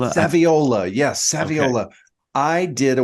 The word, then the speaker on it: Saviola: I can't pronounce Camille's last name, but Camille Saviola. Saviola.